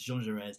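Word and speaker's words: Jaurès: heard, I've already used two different ways of pronouncing Jean Jaures. I've said Jean Jaures, Jean Jaures, it's Jean Jaures, and there's going to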